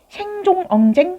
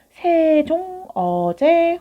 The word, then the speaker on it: 세종어제: 자, 맨 처음에 세종어제 훈민정음이라는 제목이 있는데 이거 우리 읽을 때 생종엉쟁 훈민정음이라고 있나? 아니지. 우리 이거 세종어제 훈민정음이라고 읽는다고 했어.